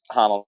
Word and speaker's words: Honnold: So Alex Honnold, is that Yeah. how you pronounce his name? Yeah, that's Honnold.